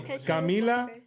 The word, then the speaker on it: Camila: So, Camila, Bea, and she wants to say something. My name's Camila, not Kama. And it's spelled K A M I L A.